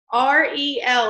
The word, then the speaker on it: Ariel: And so somebody finally said R-E-L, like the letters, and I was like, I can remember that.